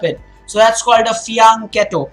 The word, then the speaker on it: fianchetto: so that's quite a fee on Cato it's an Italian term not bad not bad